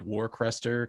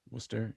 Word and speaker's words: Worcester: area is it like pronounced they say uh worcester or something or western worcester yeah but it looks like warcrester kind of yeah yeah yeah yeah worcester yeah yeah well it's like the